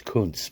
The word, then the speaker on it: Kuntz: It's Kuntz, but that's how you pronounce his name.